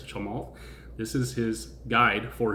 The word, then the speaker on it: Chamath: It sounds like to me there's like a silent L there, or there is an L there, it's not there, it's Chamath.